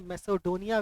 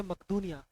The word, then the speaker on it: मकदूनिया: तो वो मकदूनिया, ऐसे मैसेडोनिया इसको बोला जाता है इंग्लिश प्रोनाउंसिएशन में, और हिंदी में मकदूनिया।